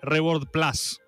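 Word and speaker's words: Reboard+: Es Reboard con un más, pero se va a pronunciar Plus, ¿eh? Porque hay gente que dice, ah, decí más. No, esto es Reboard Plus. Así lo vamos a pronunciar, ¿eh?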